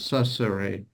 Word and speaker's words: ça serait: I think it's filling it in because I can't believe you're hearing 3 syllables. Ça serait. Okay. Like ça serait it's just clear as a bell for me. I mean, I ça hear serait it. Well, we might be Sorry. filling it in a little bit. I honestly think you are because I don't think there's not time for 3 syllables in there.